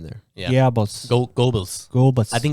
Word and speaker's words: Goebbels: gibbles Goebbels gerbils Gobles people pronounce his name by gerbils but there's no R in there yeah Gobles I think it's Globus